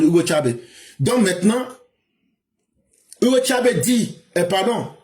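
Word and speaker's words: Hugo Chávez: Quand lui Nicolas Maduro prend le pouvoir maintenant il dit Hugo Tcha ne savait même pas c'est Hugo Chabes mais quand tu prononces en espagnol Hugo Tchabe.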